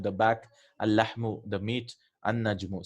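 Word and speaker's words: النجم: An-najmu. See, we are not pronouncing the lam.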